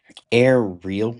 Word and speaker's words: AIReal: Yeah, it's when I created the brand name the the play was on it was yoga in the air but really yoga and so that's why it was a real yoga.